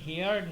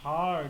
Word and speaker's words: heard: হ্যাঁ, you might have হার্ড A rumour, এখানে হেয়ার্ড না হার্ড, HEARD, হার্ড, হেয়ার থেকে হার্ড হয়।